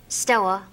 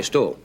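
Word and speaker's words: store: How do you pronounce S-T-O-R-E? Stoa. Yeah, Stoa. Yeah. See, in Mississippi, they say stow. Stow. Going to stow. Yeah. It's just S-T-O, period.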